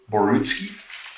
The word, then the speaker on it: Borutski: uh the big one now Basel am I pronouncing your last name correctly is it borutski yeah okay um thanks very much for taking